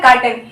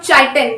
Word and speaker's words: काइटिन: Mind it's pronunciation, it इज नॉट चाइटिन। काफी बच्चे चाइटिन बोलते हैं, मैंने देखा है ऑफलाइन में बच्चे आते हैं चाइटिन प्रोनाउंसिएट कर रहे हैं, नहीं, इसका प्रोनाउंसिएशन हमारे पास काइटिन है।